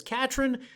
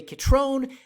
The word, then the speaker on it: Catron: makes up this County some people pronounce c a t r o n as Katrine some say katron and some say KRON and I'm sure somebody out there pronounces it pretzel I don't have a